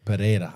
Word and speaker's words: Pereira: perea is that how you say it yeah perea Alex pan perea oh he's a he's he's